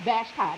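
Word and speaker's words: Vashti: Now, Queen Vashtai is spelled B A S uh H T I Vashtai. That's how it's pronounced. Good morning, big brother Jesse. Queen Vashtai is one that it is described.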